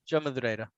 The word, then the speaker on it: Madureira: Yeah, there you go, Joe Madureira. And Love the that just, pronunciation, by the way.